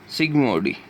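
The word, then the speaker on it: Zsigmondy: सिग्मोडी। जेड यहाँ पे silent रहेगा।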